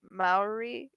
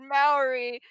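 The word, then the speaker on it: Māori: You gotta that like we do our R's kind of like it's like a hard R, like almost rolled, but kind of like a D almost.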